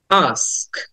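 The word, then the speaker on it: ask: The next word is আস্ক, আস্ক। আটা একটু open করে, মুখটা ওপেন করে আটা লং করে বলতে হবে, কারণ এটাকে লং সাউন্ড বলে। আমরা ওটা অনেকে আক্স বলি, কিন্তু উচ্চারণটা হবে আস্ক।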